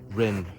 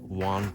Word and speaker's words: Yuan: And also, I should pronounce Rin better. I keep saying Yuan, but it's actually Rin.